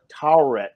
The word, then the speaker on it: Taweret: It's Taweret. It's like Taweret. It's hard to pronounce, but yes.